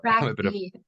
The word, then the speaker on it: TrkB: Track B is how you say it.